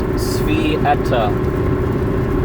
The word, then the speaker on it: Sveta: So before I tell you that, so how you pronounce her name is Svieta.